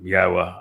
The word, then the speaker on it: Yahowah: Um, Yahwa, I explained how to pronounce three of the four letters and the